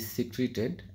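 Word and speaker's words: secreted: ভেনমা সনে with modified teeth connected to poison glands in which venom is সিক্রেটেড and stored. সিক্রেটেড। আমি sorry উচ্চারণটা ভুল বলেছি সিক্রেটেড এন্ড স্টোলড স আপনারা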